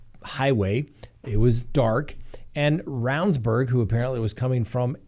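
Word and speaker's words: Ravnsborg: create some reasonable doubt jason roundsburg that's the way he pronounces it looks like more ravensborg but roundsburg is the way he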